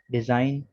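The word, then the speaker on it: design: इसके बाद rule number 5 में है G is silent in the following words. दर्ज झेल अल्फाज में G साइलेंट है। साइन, campaign, डिजाइन, रिजाइन, align, फॉरेन, foreigner, असाइन। ठीक है, और नोट करेंगे कि G के बाद N है, इन तमाम में G के बाद N आ रहा है, तो G के बाद जब कभी भी N आ जाए तो G साइलेंट होगा।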